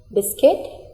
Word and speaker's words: biscuit: here E is silent biscuit here u is silent wrist here W is